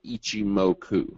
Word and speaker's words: Ichimoku: Here are some of the main theories of Ichimoku. All right, and no, I didn't sneeze. That's how you pronounce it.